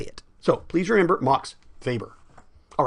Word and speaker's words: Weber: So please remember Max Weber.